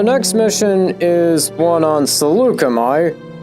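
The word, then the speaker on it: Saleucami: And the next mission is one on Salukami, or how it was pronounced in the game as Salyukami, because this was before they actually, had a on-screen name for it.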